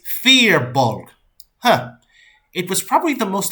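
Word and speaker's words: Firbolg: And as soon as I said those words, the guy I was sitting next to goes, "It's Fearbolg."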